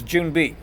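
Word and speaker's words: 준비: way you want just make sure you pronounce it June be like a junebug we have June coming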